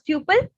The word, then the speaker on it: tuple: of the list that's called as Tuple or tle the way you want to pronounce it you can pronounce so it's similar to